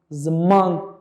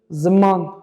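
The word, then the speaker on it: ziman: So this is a good example because the first vowel is a short one, and the next one is a long one, zaman. Do you see how I elongate my intonation? Zaman. It goes up.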